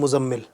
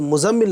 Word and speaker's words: مزمل: اچھا سب سے پہلے تو میں تلفظ بتا دوں، اور کچھ لوگ اس کو بولتے ہیں مزمل. عام طور پر آپ سنو گے نا لوگوں سے تو کہتے ہیں مزمل بھائی، مزمل. ٹھیک ہے، تو مزمل نام نہیں ہے اصل میں، زا اور میم